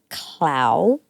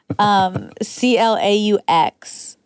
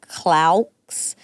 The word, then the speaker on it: Claux: That's Nico Clau. Nico Clau. Claux. I feel guilty because I know I would have pronounced it Claux, but you already told me it was Clau.